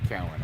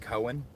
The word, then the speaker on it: Cowan: there's a lot of people that aren't from there that call it Cohen, which is just weird. Yeah, it's Or Cowan. that's spelled with an E. I just think of a milk cow all the time.